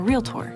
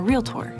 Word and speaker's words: realtor: comment to me that you don't like it when people over enunciate and say real tor cause most people say